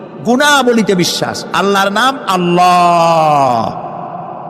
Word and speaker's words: আল্লাহ: গুণাবলীতে বিশ্বাস আল্লাহর নাম আল্লাহ বলেন তো আল্লাহ নয় কিন্তু আল্লাহ হচ্ছে অশুদ্ধ শুদ্ধ হচ্ছে আল্লাহ। বলার সময় মুখটা গোল হয়ে যাবে।